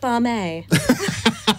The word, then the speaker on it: BAME: I can pronounce it Barme. Like Lame.